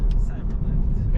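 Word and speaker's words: Cybrlft: Cyberlift. Yeah, it's spelled with no vowels, C-Y-B-R-L-F-T.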